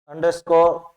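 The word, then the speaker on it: underscore: अंडरस्कोर अंडरस्कोर, ये यू की ध्वनि यहाँ पर ए की आ रही है। अंडरस्कोर यहाँ पर भी शॉर्ट साउंड है इसका।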